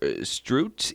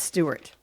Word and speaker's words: Stuart: Stuart. I'm sorry, Stuart. It's Stuart. S-T-U-A-R-T? S-T-U-A-R-T. Okay, yeah, Stuart. I don't know why I said Strout.